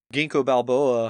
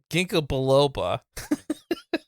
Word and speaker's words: ginkgo biloba: No, ginkgo biloba. Ginkgo biloba. It's for your memory. You can't even say it right.